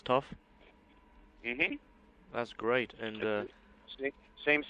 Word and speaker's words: Tuff: lot of fun and this will be like the band tough it's going to be pronounced as tough that's great and uh